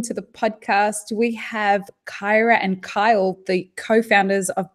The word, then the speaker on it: Kyra: It's Kyra. It's like Kyra.